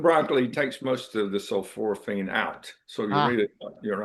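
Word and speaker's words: sulforaphane: Uh, of course we just talked about um uh sulforophane. That's how they pronounce that.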